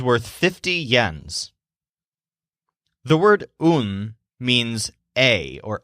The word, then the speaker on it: un: The word un means a or a, as in a male sheep. It sounds kind of like the English word one, but it's pronounced un. So you say un sheep.